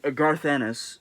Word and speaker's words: Garth Ennis: he also did his own thing um uh garth anis yes that's how you pronounce his name it's not garfield's penis i'm sorry everybody but garth ennis worked for marvel dynamite uh dc at one